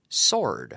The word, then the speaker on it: sword: which is Espada Swart yeah but the W is silent WS what sword sword sword sword sword